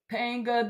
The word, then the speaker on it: Bonjean: about that go jennifer panga the g is pronounced like a j pain jump what do